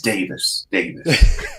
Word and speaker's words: Davies: And then when I got back to Britain, I realized that's actually the Welsh pronunciation is Davies. So I'm constantly correcting people. I'm like, it's Davies.